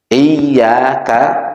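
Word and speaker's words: إِيَّاكَ: Ada kalimat yang manakala tidak dikasih tasdid bisa berbahaya. Meskipun mungkin ada salah satu qaul atau madzhab yang mungkin bacanya tidak pakai tasdid, tapi kita pakai tasdid, mengikuti yang pakai tasdid.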